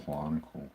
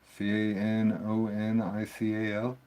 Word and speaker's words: canonical: Oh no, I don't want to do the clonical crap. What? Nothing. Did pronounce it wrong? Canonical? CAN. I guess there's no L in there, huh?